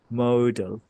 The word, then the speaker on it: modal: component libraries වලදී MODA ඒක එක විදිහට කට්ටිය pronounce කරනවා model කියනවා modal කියනවා so the is modal or Sinhala විදිහට කියනවා නම් model English වලින්